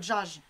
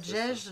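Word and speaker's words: دجاج: J'ai dit, nous, si vous le lisez comme ça sans savoir, vous allez dire Djaj.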